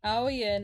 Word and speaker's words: Ao Yin: Ao Yin. Ao is pronounced like a question, ow, and Yin is pronounced like a roller coaster, yin.